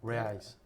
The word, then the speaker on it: reais: It was the No, what is the name of the Reais. reais. It's Spell- the currency. spell that, It- yeah.